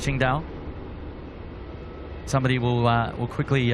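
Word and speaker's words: Qingdao: I say Quing Dao, but I think it's Ching Dao.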